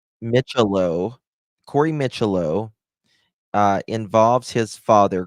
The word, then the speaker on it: Micciolo: Corey, how do you pronounce his name? His last name. I don't want to say it wrong. Micciolo.